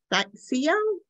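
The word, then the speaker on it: Scio: I don't know how to pronounce that. Sio? I don't know where that is in Oregon. Yeah, it's Sio.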